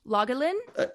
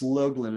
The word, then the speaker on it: Logelin: say your last name lalin close it's login it's a long o um and I'll just